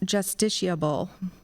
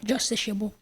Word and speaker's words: justiciable: from a Latin word are there any alternate pronunciation yes justiciable j u s t c i a b l e justi shable the correct spelling of the